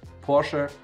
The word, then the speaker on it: Porsche: and by the way the correct way to pronounce it in german is porsche i brought quite some